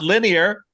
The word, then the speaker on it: linear: It's not linear. Wow. Good. Linear. That's three syllables, right? Linear. That's three. Linear.